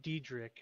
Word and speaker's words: Diedrich: It's Diedrich, not whatever you said.